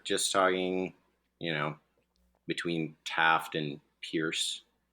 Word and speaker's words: Pierce: So we were just talking, between Taft and Pierce. Pierce rhymes with fierce.